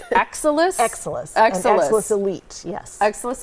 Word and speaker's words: Exilis: We're going to let you pronounce it because I was working on it during the break. It's Exilis? Exilis.